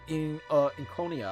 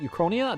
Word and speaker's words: Euchronia: Think of this marketplace as a microcosm of the suzerain state of Incronia. I think that's how you say it, Euchronia? I think it's Euchronia.